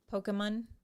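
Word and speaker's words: Pokémon: say that right no pokemon okay okay do you see this little like a little apostrophe looking thing over the e uh-huh that means a poke okay poke pokemon pokemon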